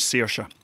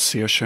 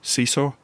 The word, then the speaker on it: Saoirse: And she says, Saoirse, and they go, sorry, what was that? She says, Saoirse. Seesaw? No. Saoirse. Shoshe? No. Saoirse. How do you spell it?